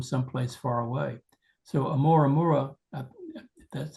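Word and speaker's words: ʻOumuamua: So, Amoraura, that's how you pronounce it, um, was the second one that we've seen.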